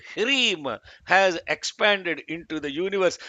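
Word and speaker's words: ह्रीं: The seed of all of these lokas is one bijam called Hrim. Hrim. It is not Hrim. It is not Hrim. It is Hrim. Hr. Hr. That's how you have to pronounce Hrim.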